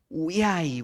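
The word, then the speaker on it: οὐαί: Tanto en griego como en hebreo, la pronunciación es un tanto distinto. Uiai, uiai sería en griego, como le escucharon los discípulos.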